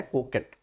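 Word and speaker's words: coquette: कोकेट actual में इसका pronunciation है कोकेट, ठीक है।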